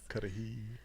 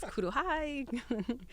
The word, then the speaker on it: Cudahy: Cudahy. I know. A lot of pronunciations, let me tell you. Every time we were on the news, it was Kuruhai.